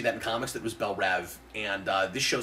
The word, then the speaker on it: Belle Reve: raw shows and things I should say we pronounce it Belle Reve and it does only have one E and